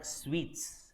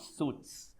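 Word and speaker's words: suite: do you pronounce this it's called sweets not suits suit is your coat suit sweet is a is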